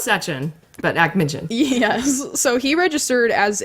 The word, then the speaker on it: Akhmetshin: So not Sechin, but Akhmetshin.